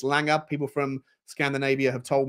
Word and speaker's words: Lange: name wrong it's not Lang it's Langer people from Scandinavia have told me you pronounce it with a G rather than a j on the end um and this story